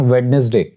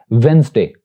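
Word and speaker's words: Wednesday: क्या करते हैं कि डी को बोलते हैं, यानी इसको ऐसे प्रोनाउंस करते हैं वेडनेसडे। तो इसकी जो करेक्ट प्रोनाउंसिएशन है that is वेंसडे, D silent here, वेंसडे, वेंसडे।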